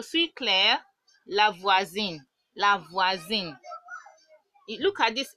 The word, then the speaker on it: voisine: The pronunciation is supposed to be s, but whenever in French, whenever we have an s in between two vowels, it becomes a z sound.